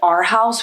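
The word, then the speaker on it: Arhaus: It is from the brand Our House, which is a really expensive furniture place. It's spelled A R H A U S.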